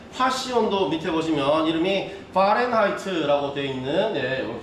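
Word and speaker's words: Fahrenheit: 다음에 화씨 온도 밑에 보시면 이름이 파렌하이트라고 되어 있는, 보통 독일 계열의 사람들이 하는 발음을 하는 이 사람 이름입니다.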